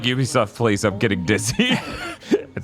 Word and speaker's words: Ubisoft: streaming on Netflix a Ubisoft original because the U is pronounced like Yu so they don't have